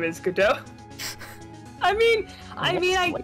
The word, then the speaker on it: Godot: earthquake came but probably i've always pronounced it godot but maybe it is actually gadot like wait i thought gal gadot's name was gal gadot so did i because so i pronounce it get dough because of the play waiting for godot yeah i'm pretty sure